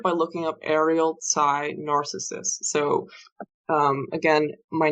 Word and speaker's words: Narcissus: It is not narcissist, like the disorder, or the person. It is Narcissus, like the Greek youth, in the myth.